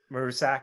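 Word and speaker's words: Maruscak: I mean, Grainger, Hines, again, we mentioned Damien, and I don't know how to pronounce his last name. Marusak. Marusak.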